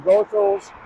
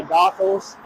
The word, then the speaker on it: Goethals: to task for saying goals. A lot of New Yorkers say Gothals. Um the main sources of more trustworthy sources uh that I've seen say goals is a correct pronunciation.